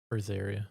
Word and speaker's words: Berseria: How do I pronounce that? Briseria.